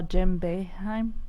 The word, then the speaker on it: Jim Boeheim: I'm told to tell you, and I'm probably going to say his name wrong, that we saw Jim Boeheim.